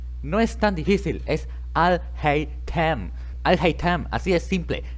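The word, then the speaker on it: Alhaitham: No es tan difícil, es Al-Haytham. Al-Haytham, así es simple, no es tan complicado.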